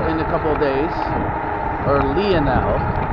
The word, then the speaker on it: Lionel: oh i haven't watched lionel in a couple days or leonel see the i in greek is pronounced as an e so instead of having line you get leon rather strong gust of